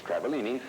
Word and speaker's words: Travaglini: The G is silent, as in swimming. It's Travaglini, and she's also a student.